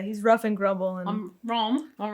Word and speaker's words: Ram: Rom. Fuck. It's spelled R-A-M.